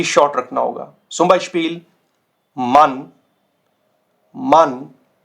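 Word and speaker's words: Mann: तो इसका जो प्रोनाउंसिएशन होगा ये आपको शॉर्ट रखना होगा, शॉर्ट। पिछली स्लाइड में था आपका लेंदी, तो ये शॉर्ट रखना होगा। zum Beispiel मन, मन, कॉमन, कॉमन, वासर, वासर।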